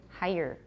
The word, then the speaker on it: higher: two people next week higher but if you say it fast higher to me is still two syllables I've been trained to